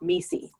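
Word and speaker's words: MECE: with the acronym om ECE which is actually pronounced me see and it stands for mutually exclusive collectively exhaustive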